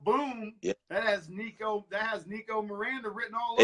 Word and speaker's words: Mirada: yeah, that has Nico Mirada written all over. It's Nico Mirada, bro. It's not Miranda. Take off the N, bro. There's no N.